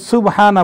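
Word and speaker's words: سبحان: ভাই একটু কনফিউশন আছে আসলে আরবিতে যেখানে পেশ আছে সেটার উচ্চারণটা রস্যুকার দিয়েই হবে ভালো অতএব সুবহানা বলাটাই উচিত সুবহানা রাব্বিয়াল আলা সুবহানা রাব্বিয়াল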